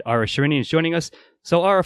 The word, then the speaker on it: Ara Shirinian: very special interview with Ara Shirinian. Am I getting your name right, correct? You know what, that's the first time I actually heard you pronounce my whole name, and it's exactly correct.